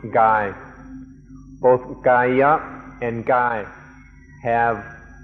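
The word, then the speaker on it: กาย: The original word the Buddha used was kaya, and this word also occurs in Thai and is pronounced gai.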